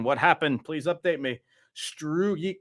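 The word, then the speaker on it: Struijk: Struik. How do you say that guy's name? Strike.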